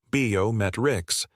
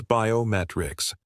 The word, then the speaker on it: biometrics: They say biometrics. The correct stress is biometrics. The emphasis is on met.